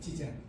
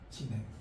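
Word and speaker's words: 自然: 지젠 지젠 근데 지금 여기처럼 저절로 저절로이이 불교에서 정토진용이나 이런 데서 저절로라고 읽잖아요. 그 여기서는 지젠이 아니고 지낸이라고 할 거야. 지낸 이거는 지냄는 지젠 중국은 쓰란 란 란 똑같이 하나음이죠.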